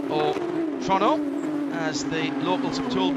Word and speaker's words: Toronto: with it being a street circuit here at Toronto, or Toronto, as the locals have told me it's got to be pronounced.